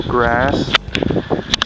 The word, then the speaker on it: Gras: A very easy word is the word for grass. It's Gras. It's almost the same, slightly different in pronunciation, but yeah, grass, grass. It's more like a long R.